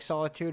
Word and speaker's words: SolEtude: have now is it is it Solitude pronounced like Solitude or is there a little a little yeah yeah that's right yes okay but with like